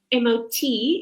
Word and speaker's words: MOT: Now, just very quickly, MOT is pronounced MOT because it's actually a Norwegian word that means courage.